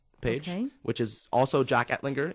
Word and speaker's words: Ettlinger: And my name is Jack Ettlinger, which is Jack, and my last name is Ettlinger, kind of hard to pronounce, Ettlinger.